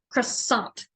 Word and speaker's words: croissant: the French would I don't think instead of cross salt which is how I'm familiar with pronouncing it it's croissant the I the oi is not pronounced like